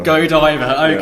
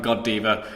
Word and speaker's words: Godiva: Go and diver. Godiva. Okay. Yeah. So not the God Diva Championship, which I was pronouncing it as until this point.